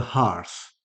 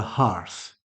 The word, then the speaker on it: hearth: it was an old family mansion with a hearth it was an old family mansion with a hearth now hearth has a pronunciation similar to heart a hearth is an